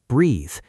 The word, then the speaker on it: breathe: The noun has a short e sound like bed, breath, take a breath, but the verb has a long e sound like tree. Breathe.